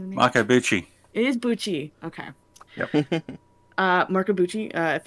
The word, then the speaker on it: Bucci: is uh i wanted to call him mark bucci but um marco uh busy you know what i can't say it right pixie what what how do you say that it is buchi okay uh mark abuchi if anyone here listening